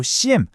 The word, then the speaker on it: SIEM: 여기에 바로 사이버 보안의 관제탑이라고 불리는 아주 멋진 해결책이 등장합니다.이 관제탑의 이름은 바로 CM. 우리말로는 그냥 심이라고 읽으면 파네요.